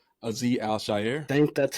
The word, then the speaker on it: Azeez Al-Shaair: Azeez Al-Shaair.